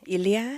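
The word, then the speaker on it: Elia: Ilia.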